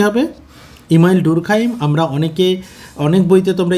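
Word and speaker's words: Durkheim: এটা ঠিক হয়ে যাবে ওকে ইমাইল ডুরখাইম এটার উচ্চারণটা কি হবে ইমাইল ডুরখাইম আমরা অনেকে অনেক বইতে তোমরা ইমাইল ডার্কাইম হিসেবেও দেখতে পারো ওকে ম্যাক্স ওয়েভার ম্যাক্স ওয়েভার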